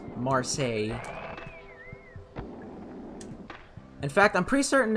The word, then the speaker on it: Marseille: in Marseille France and yes that's how it's pronounced not Marcel its Marseille in fact I'm pretty certain is a French